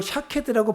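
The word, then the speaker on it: שָׁקֵד: 자음은 똑같고 모음만 달라요. 비슷한 단어인 거예요. 근데 옛날 히브리 사람들은요. 말에 모음을 쓰지 않았어요. 옛날 히브리어는, 고대 히브리어는 모음을 사용하지 않았어요. 모음을 쓰지 않아도 이걸 샤케드라고 발음해야 되는지 샤카드라고 발음해야 되는지 아는 거예요.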